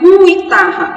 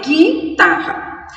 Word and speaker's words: guitarra: E ele não é pronunciado aqui, não é guitarra, é guitarra.